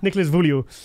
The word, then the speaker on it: Nicolas Vullioud: Nicolas V, because I couldn't pronounce his name. Nicolas Vullioud.